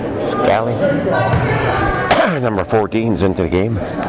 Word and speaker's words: Scally: Scally. I think that's how you pronounce it. S-K-A-L-L-Y. Scally.